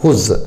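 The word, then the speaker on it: whose: हुज, क्या पढ़ेंगे इसको, हुज, ठीक है। हुज, यहाँ डब्ल्यू साइलेंट है।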